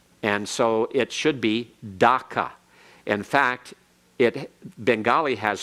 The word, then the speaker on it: Dhaka: waver all right so it's actually supposed to be spelled d-h-a-k-a and pronounced DACA but the British say DACA all right that's what